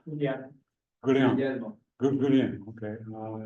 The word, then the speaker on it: Guglielmo: But this guy named Guglielmo Marconi, do I pronounce that right? Guglielmo? Yeah. Guglielmo.